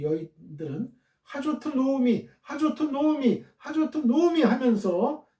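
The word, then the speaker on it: נעמי: 1장 19절입니다.이가 나오냐 하트 로미 예 나오미는 이제 한글로 나오미라고 했고요. 히브리어 원어상으로 발음은 노미예요. 노미 하저트 노미 본문은 의문사 하와 의문사 하와 지시대명사 여성 단수용 조트와 나오미로 연결되어 있는 의문형 형태예요.의 의문문 형태예요.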